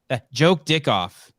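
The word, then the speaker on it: Jokedikhoff: dick off that's her name thank you Jamie joke dick off that's her name j-o-k-e-d-i-k-h-o-f-f what are you laughing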